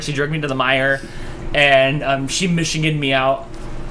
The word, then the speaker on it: Meijer: Meijer. Meijer.